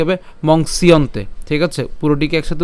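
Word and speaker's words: मंस्यन्ते: উচ্চারণ করলে কি হবে মংসিয়ন্তে ঠিক আছে পুরোটিকে একসাথে উচ্চারণ করলে কি হবে মংসিয়ন্তে আর আলাদা উচ্চারণ করলে মংস ইয়ন্তে হ্যাঁ তা আমরা একসাথে উচ্চারণ করবো মংসিয়ন্তে ঠিক আছে মংসিয়ন্তে এরপরে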